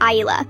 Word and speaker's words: Isla: My daughter's name is Isla, pronounced Isla. It's not that hard.